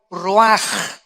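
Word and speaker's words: רוח: aquí cuatro vientos es la palabra hebrea raj o se escribe ruach que es como se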